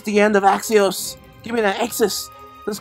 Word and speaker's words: Axios: head of the pumpkins I actually do know how to say it now it's Axios I didn't really know